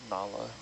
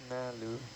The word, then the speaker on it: Nalu: She consistently gets called Nala. Yeah. A lot of people are like, oh, Like- Nala. It's like, go ahead. They're like half listening to you when you say her name.